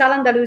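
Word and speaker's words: al-Andalus: to the world of an alderwis and am I pronouncing that correctly? Yes, it's Alandaloo.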